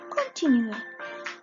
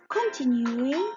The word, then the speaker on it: continuer: Ensuite, on va parler du verbe continuer. Continuer, يعني كمل. Ça s'écrit C-O-N, con, T-E-T-Nu-E, continuer, continuer, continuer.